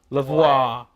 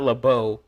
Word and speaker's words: Lavoie: Or Lavoie, not Lebeau. Laveau. So it's Lavoie or Lavoie? Yes! It's either of those things are Yes. appropriate? Either of those are appropriate. I've heard it pronounced both by him and his kin.